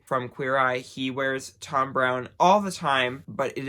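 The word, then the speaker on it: Thom Browne: is a designer named Tom Brown or as some people would like to say thumb brownie because it is it's spelled th om PR o w and E now Tom Brown is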